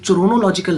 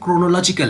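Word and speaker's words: chronological: ये चरोनोलॉजिकल नहीं है, ये इसको देख लीजिए, वैसे तो CHRO, वैसे तो मज़े तो चरोनोलॉजिकल का ज़्यादा मज़ा है, लेकिन ये इसकी राइट प्रोनाउंसिएशन क्रोनोलॉजिकल है। तो क्रोनोलॉजिकल, क्रोनो जैसे मोनोक्रोम होता है या गूगल क्रोम होता है, तो गूगल क्रोम नहीं होता, इसी तरह ये क्रोनोलॉजिकल है।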